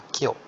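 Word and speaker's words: 今日: Jadi minasan bisa lihat ini kanji ima, ini juga ima, ini ima, tapi bacanya beda semua. Ini bacanya kyo, ini bacanya kong, kongetsu, ini bacanya kotoshi.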